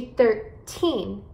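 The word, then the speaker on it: thirteen: Então, você vai enfatizar as sílabas no final de 13. 13. 13. Ok? E com 30, 30, você vai enfatizar as sílabas no começo da palavra.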